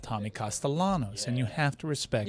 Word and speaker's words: Castellanos: It's not Nick Castellanos. The L always has to be rolled.